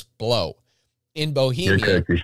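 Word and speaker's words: Blau: 1500s, the village of Blow in Bohemia. I'm going to pronounce it Blow. It's spelt B-L-A-U. I don't give a fuck what you say I'm supposed to call it. It's Blow.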